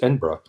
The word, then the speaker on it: Edinburgh: It's the colloquial saying, way Scots pronounce Edinburgh, Embra, and so that's part of it as well.